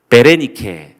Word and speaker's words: 베레니케: 수일 후에 아그리파 왕과 버니게가 베스도에게 문안하러 가이사랴에 와서 자 지금 아그리파 왕이 자신 혼자만 오지 않고 버니게 베레니케 정확한 발음으로서는 베레니케가 되겠습니다. 베레니케와 함께 왔는데 두 사이의 관계가 뭐냐면요 아그리파 2세의 한 살 아래 여동생입니다.